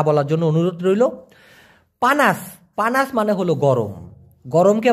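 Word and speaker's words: panas: বলার জন্য অনুরোধ রইলো পানাস পানাস মানে হলো গরম গরমকে মালয়েশিয়ান ভাষায় কি বলা হয় পানাস এখন আমাদের বাংলা ভাষায় পা মানে ঠ্যাং নাচ মানে হচ্ছে নাচানো হ্যাঁ পানাচ তা ওদের ভাষায় এসে যায়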